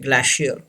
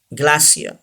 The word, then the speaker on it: glacier: Say this word, glacier, and R is silent. Glacier. Don't say glacier.